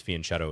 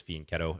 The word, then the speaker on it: fianchetto: fiance versus fianchetto pronunciation i used to think it was fianchetto as well but i'm pretty sure it's fianchetto at least when you're pronouncing it in english um let's go here